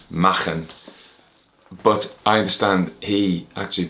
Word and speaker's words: Machen: Now, he's a Welsh speaker, I should say, Machen, but I understand he actually pronounced it Machen.